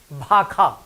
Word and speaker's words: भाषा: चारिम पॉइंट अछि मैथिलीमे मूर्धन्य स के उच्चारण ख होइत अछि, जेना भाषाके की कहै छियै? भाखा।